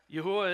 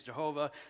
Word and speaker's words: Yahweh: According to text you see there, Yahweh is the pronunciation of the tetetrogrammaton that I've chosen. I don't get into fights with people about this. Some say Yahweh. The King James says Jehovah. Yhovah. Look, uh, we're we're talking about four consonants and we're doing the best we can. The pronunciation I've landed on is Yahweh.